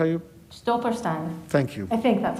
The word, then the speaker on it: Stolperstein: So I won't pronounce the German correctly, but the Stoppelstone, is that how you? Stolperstein.